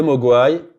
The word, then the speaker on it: mogwai: Alors, voilà, le mogwai, donc là, le mot est prononcé mogwai, beaucoup de responsabilités, et en plus, au moment où il dit ça, il bascule vers du rouge.